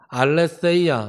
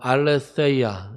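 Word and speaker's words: ἀλήθεια: 거예요 진리라고 하는 것은 헬라어로 알세아 입입니다이 태지 센지 중간쯤되는 왜 영어로 th 발음 있어요 알세아 이렇게 발음합니다 그래서 한글로 굳이 쓰면은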